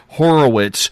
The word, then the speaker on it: Horowitz: I'm going to give you the American pronunciation, Horowitz with a Z on the end.